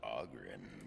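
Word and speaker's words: Oghren: As you say, the name's Auggrin, by the way. Augren, stop talking. Ladies, pronounce it Augren.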